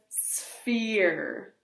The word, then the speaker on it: sphere: P and H says like phone, like my phone. So we pronounce this sphere.